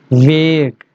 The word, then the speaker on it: vague: So today's word of the day is vague. Vague. Make sure when you pronounce this word va, your lower teeth must touches your upper lips.